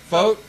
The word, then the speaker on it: Focht: Focht? We're joined by Jodi Focht of Venango.